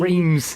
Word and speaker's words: Reims: to be crowned at Reims Cathedral, Reims as we call it in English. We call it Reims in England. We can't pronounce Reims in French. because we can't pronounce French.